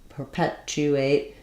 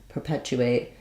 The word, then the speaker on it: perpetuate: a question about perpetuate so perpetuate second syllable stress we have the E Red Tent vowel here um the TU um perpetuate perpetuate um a little bit of a chess on there perpetue perpetuate um and then unstressed ER